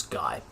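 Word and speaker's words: Gey: and margaret guy so it looks like it's pronounced gay but it's guy um so there they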